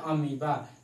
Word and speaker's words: amoeba: फिर नेक्स्ट है अमीबा, AMOEBA, और ये अमीबा का अमीबा ही पढ़ते हैं लेकिन एमोइबा लिखा हुआ है।